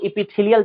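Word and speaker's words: epithelial: है आपका वो आपका आता है सबसे पहला एपिथीलियल टिश्यू क्या बोलते हैं इसको इसको हम बोलते हैं एपिथीलियल एपिथीलियल बोला जाता है इसी को हम लोग एपिथीलियल टिश्यू को एपिथीलियम के नाम से भी जानते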